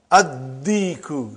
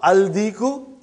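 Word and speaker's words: الديك: Ad-diku, not al-diku.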